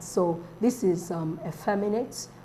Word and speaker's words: effeminate: so this is um effeminate words that end with um at yes are usually stressed on the second cable the second syllable from the front that's a fair minute